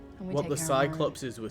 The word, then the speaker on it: Cyclopes: cyclopses. I think it's pronounced like Yeah. Cyclopi or something. Cycl Cyclopes. That's how my audio book pronounces it. Cyclopes.